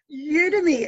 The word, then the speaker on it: Udemy: Now, what is Udemy, or how do you pronounce it? Udemy.